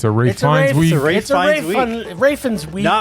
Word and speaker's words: Ralph Fiennes: Yes, it's a Raine Rafins. We not Ralph, although it's spelled Ralph. It's Rafins. It's Rafe. It's Rafins.